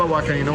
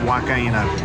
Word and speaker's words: huancaína: You guys, I've been saying it wrong the whole time. It's not huancaína. It's huancaína. Huancaína.